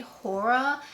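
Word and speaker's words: Whora: And this one is the shade Hora, and it's spelled W-H-O-R-A.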